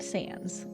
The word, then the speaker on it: Sans: Fox wrote for Sans is it Sans or is it um like pronounced a different way as Sans the pro correct pronunciation that's right Sans okay um I